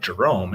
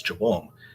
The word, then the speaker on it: Jerome: pronouncing my R's so with a name like Jerome everybody thought my name was jabome and I would became